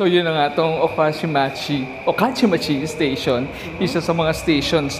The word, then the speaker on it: Okachimachi: Okachimachi station.